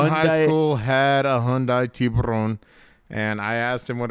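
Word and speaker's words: tiburón: But in Spanish, it's El Charque. It's not. That's not how you say it. Do you know what it is in Spanish? I actually don't. You probably know better. I do know. It's tiburon.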